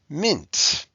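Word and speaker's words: -ment: unit five okay like mint shipment now you'll notice something that even though it's spelled with an e it sounds like an i shipment ness like kindness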